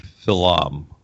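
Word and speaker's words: Philom.: products Peter in your title is the word Phil um am i pronouncing that correctly yes it's it's it's Phil um ph IL om period Phil um it's an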